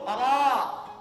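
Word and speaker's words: ر: Cuman ra-nya ini lidahnya agak maju ke depan, jangan sampai menyentuh gigi. Ra. Harus senyum, bukan ro, bukan. Senyum, mana senyumnya? Ra.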